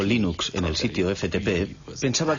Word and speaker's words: Linux: pronunció libros sin embargo si fuese linus torvalds no hay duda de que lo pronunciaría linux claro que si uno es de la costa oeste de los eeuu lo más seguro es que lo pronunciaría line ucs pero a linus torvalds le importa un bledo como pronuncia es linux siempre y cuando lo utilices empecé a jugar